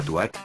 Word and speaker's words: TW@: El cibercafé de Liberty City, que también aparece en GTA 3, lleva por nombre TW que en inglés se pronunciaría Tuat, un sinónimo de concha.